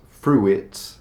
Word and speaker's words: fruit: It's not fruit. If it was Italian, I know you're used to pronouncing every single vowel, but in English it's just fruit.